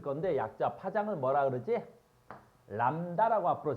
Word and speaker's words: 람다: 람다라고 앞으로 쓸 거야. 나만 그러지 않아. 다 얘를 뭐라고 읽어?